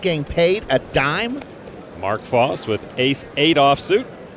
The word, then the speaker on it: Vos: a dime Mark Foss with ace8 off suit Foss was nearly 2 hours late on day two due to a midm morning nap luckily the phone rang F's name is spelled v but pronounced false Annie Duke with pocket sixes she had a